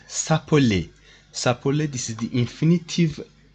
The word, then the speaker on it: s'appeler: So this verb is called, it is pronounced s'appeler.